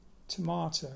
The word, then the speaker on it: Tormato: Tomato. It's spelt Tormato because there was a rock formation in Devon called Yes Tor, T-O-R. Those rock formations are called tors.